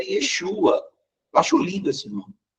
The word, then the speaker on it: Yeshua: tá usando Cristo mas não era assim que eles pronunciavam o nome dele era Yeshua eu acho lindo esse